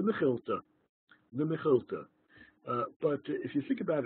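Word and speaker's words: Mekhilta: Well, this is usually pronounced, people in the yeshiva world anyway, usually call it the Mechilta.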